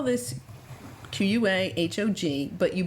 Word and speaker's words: quahog: have a quahog now there you spell this q-u-a h-o-g but you pronounce it quahog apparently i have been pronouncing it wrong all this time so that is a quahog not a quahog and this is another one